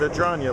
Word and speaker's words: Adragna: He said Adragna like lasagna, so that's how I learned to pronounce it.